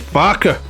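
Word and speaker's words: Farquhar: called Tony now it's farquar is it right I work with a guy called Martin farquar That's the English name right but he pronounced it farer Martin farer I don't know why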